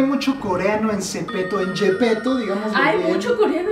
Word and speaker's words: Zepeto: Es muy extraño, pero Zipiro, o sea, si tú lo lees en coreano, yo sé que muchos de ustedes saben leer coreano, de verdad se pronuncia Yepeto. Yepeto, como el de Pinocho.